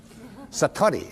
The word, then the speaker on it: Satori: it's called Satori I'd love to say that Satori SAT Ori and it means instant awakening the